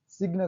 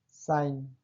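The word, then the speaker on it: sign: साइन, सिग्न कहाँ पढ़े हैं? साइन।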